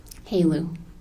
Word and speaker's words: HALU: How do you say H-E-L-E-U? Helu. Heleu. What is, in your line of work, what is Heleu? HALU is high assay, low enriched uranium.